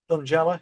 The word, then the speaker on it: Thungela: And am I pronouncing this right? Thungela? Thungela.